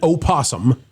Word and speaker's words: opossum: This man has been grinning like an opossum. Oh, is silent, but we'll put it in there.